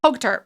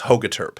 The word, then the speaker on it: Hogeterp: I always have to ask, so pronounce it for me. Yeah. Hogeterp. It's Hogeterp.